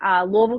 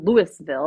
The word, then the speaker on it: Louisville: It's not Louisville. It's Louisville. Like you kind of have to sound like you got something in your throat.